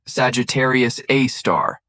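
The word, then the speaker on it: Sagittarius A*: Our galaxy's central black hole, Sagittarius A, pronounced Sagittarius A star, is a perfect example of how scientific understanding evolves through careful observation and technological advancement.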